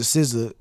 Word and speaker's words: SZA: Bro, it's SZA. Like you can say anything. People used to call her Caesar, SZA.